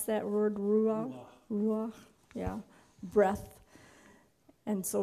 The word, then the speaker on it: ruach: How do you pronounce that word? Ruach?